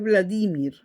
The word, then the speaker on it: Vladimir: Entonces, la pronunciación correcta en Rusia es Vladimir.